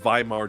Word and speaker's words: Weimar: I always like to preface these conversations with understanding what Weimar Germany was. And for those of you wondering why I'm saying with a V, because W is pronounced as a V in German.